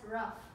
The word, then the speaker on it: rough: That's rough. Spelled the same way as the other one, O-U-G-H.